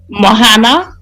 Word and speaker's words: Moana: What about um hopefully I pronounced this right. Um um Mimo Mlo. Moana.